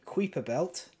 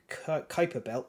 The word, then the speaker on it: Kuiper Belt: in orbit in the quipper belt or Kuiper Belt depending whether you're British or American that's the two pronunciations so it's like quite